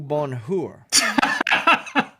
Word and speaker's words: bonheur: It's bonheur. Yes, the way stuff is the way you pronounce it, you don't say the H out loud.